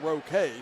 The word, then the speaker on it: Roque: Again, I was saying Rogue, but again, it's Landon Roque.